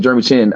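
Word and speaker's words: Jeremy Chinn: I think but I did like Curl, but this Jeremy Chin, right? That's how you say his name, Jeremy Chin.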